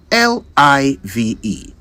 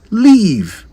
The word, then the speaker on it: live: words are frequently pronounced take this one for example l i v e live simple right yet we often hear people say leave l e a v e when they mean live I used to think